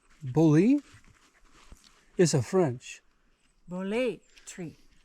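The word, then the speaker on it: Boole: this is the Bothell well it's spelled b-o-o-l-e -o-o-l-e bully is a French bullet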